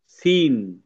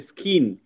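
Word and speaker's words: scene: সি ই এন ই এখানে কিন্তু আমরা পড়বো সিন সিন এখানে কিন্তু সি এর সাউন্ড হবে না। সি এর খ সাউন্ডটা আসবে না। যদি খ সাউন্ডটা আসে তাহলে হবে স্কিন। স্কিন কিন্তু না এটা এটা হচ্ছে সিন। সিন মানে কি?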